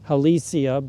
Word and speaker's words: Halesia: silver bells, which are Halesia, or most people pronounce it Halesia, but it's named for somebody with the family name of Hale.